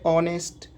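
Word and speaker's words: honest: एस टी तो यहां पर इसको क्या पढ़ेंगे ऑनेस्ट दूसरा है तो अवर हो जाएगा तीसरा हो जाएगा ओनर ज्यादातर स्पेलिंग में ब्लू के तुरंत बाद हा का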